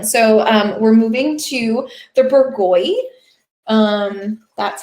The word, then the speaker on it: Bourgogne: That's how you say that lovely word there on the label, Bourgogne. You can be more, how about this? You could be more correct. I could be better about my French pronunciation, I guess, more French. But I think it's a serviceable Americanization of that word.